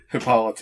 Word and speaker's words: Hippolyte: Yeah, I told you it wasn't pronounced like that. Hippolyte.